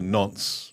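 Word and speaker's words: Nantes: And then we went back up to Nons, which is spelled N A N T E S, so it sounds like Nanties N.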